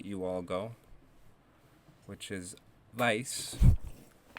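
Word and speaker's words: vais: only to say you all go which is vice and you all informal in Spain is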